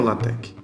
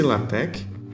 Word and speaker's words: LaTeX: Bom, para a gente começar, primeiro, o que é o LaTeX? Lê-se LaTeX ou LaTeX. Algumas pessoas também costumam pronunciar LaTeX. Então pode ficar à vontade de chamar como você preferir.